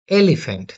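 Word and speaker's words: elephant: টি এলিফ্যান্ট তাই না কিন্তু দেখো এখানে কি কোন এফ আছে এফ নেই কিন্তু এলিফ্যান্ট এলিফ্যান্ট যখন আমরা উচ্চারণ করতেছি তাহলে কিন্তু এফ এর মত শব্দটা বের হয়ে আসছে তাই না এলিফ্যান্ট এলিফ্যান্ট তাই না যেমন ফ্যান ফাইন ফিশ একইভাবে দেখো এলিফ্যান্ট উচ্চারণে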